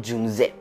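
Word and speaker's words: 윤재: Esta es la historia de Jung-hae, o como lo pronunciaré en coreano, Jung-jae.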